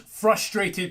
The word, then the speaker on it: frustrating: this is to me he just pronounced frustrating correctly stage now these Alm confrontations are frustrating because he pronounced the the first R and frustrating if you are at all familiar with um old school Irate Gamer he could never say this word and he said it all the time and it was always frustrating or frustrated this is the first time I have ever heard him pronounce this word correctly that's actually character development